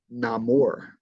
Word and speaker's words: Namor: do with that um and in this scene Namor introduces himself as Namor and there's actually an interesting okay I was